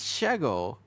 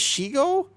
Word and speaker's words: Shego: It's It's not It's pronounced What do you mean? Is it Shego? It's Shego. She? Her name is Shego.